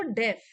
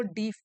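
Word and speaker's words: deaf: साल की, वॉज सो डेफ, डेफ, यहाँ प्रोनाउंसिएशन लिख देती हूँ, कई लोग इसको डीफ बोलते हैं, इट इज डेफ, डेफ का मतलब होता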